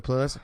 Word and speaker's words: Puelles: Puelles. Yeah, Claudio Puelles.